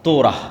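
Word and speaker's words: תורה: মুসা আলাইহিস সালাতু ওয়াস সালামের কওমকে যখন তাওরাত দেওয়া হলো, তোরাহ বলে ইহুদিরা, উচ্চারণ করে যে তোরাহ, যখন তাওরাত দেওয়া হলো,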